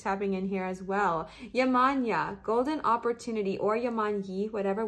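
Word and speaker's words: Yemanjá: It is pronounced Yemanya. Oh, I am pronouncing it right. Or Yemanyi.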